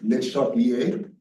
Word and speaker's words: Le Chatelier: I think the correct pronunciation is something like Le Chatelier. So I'm trying to stick